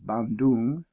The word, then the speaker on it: Bandung: The closest big city I see right now is Bandung. That's how you pronounce it.